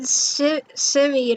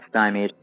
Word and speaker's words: stymied: out and said it my phone has been simmied i faked by my thoughts about verska they actually pronounced stymied okay i mean well also tavros would say